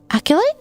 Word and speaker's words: acolyte: up very quickly the acolyte alter helper Aculite acolyte acolyte acolyte.